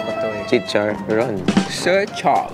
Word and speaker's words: Zi Char: Tsicha. Zicha? Actually, it's pronounced tsicha. Tse. Ba't ang galing mo? So the R is silent.